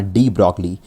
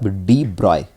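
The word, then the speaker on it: de Broglie: रहा होगा, है ना, डी ब्रॉगली प्रोनाउंस किया जाएगा इसको, क्योंकि ये फ्रेंच पर्सन था तो थोड़े नाम अलग होते हैं। तो प्रोनाउंस कैसे किया जाएगा? डी ब्रॉय, है ना।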